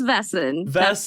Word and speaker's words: Vaesen: six different ways yeah I believe it's vessen that's what I've looked up so wonderful wonderful thank